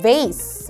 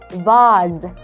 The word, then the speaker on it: vase: 그 다음 꽃병은 vase, 뭐라고요? vase. 근데 영국식 발음으로 들어가게 되면 vase, vase 라는 희한한 단어가 나오게 되거든요.